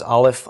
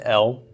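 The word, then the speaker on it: אֵל: Now you'll hear this also pronounced El, although I would pronounce it Ale for the long A of the Tzera.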